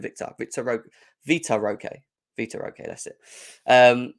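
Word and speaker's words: Vitor Roque: got said it right I keep saying Victor Vita Roque Vita okay that's it um so yeah interesting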